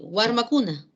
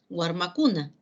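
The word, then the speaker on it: warmakuna: Cuando pluralizamos la palabra y agregamos un morfema, o sea, cuando flexionamos la palabra, vemos que la palabra crece y se convierte en guarmacuna. Se pronuncia así, guarmacuna, guarmacuna, guarmacuna.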